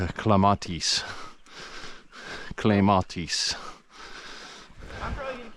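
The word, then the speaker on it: clematis: popular, but you know, if you're going to go with Latin because that's what it is, it would actually be more like clamatis.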